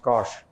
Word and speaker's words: cosh: And this is defined as cos hyperbolic, pronounced cosh theta.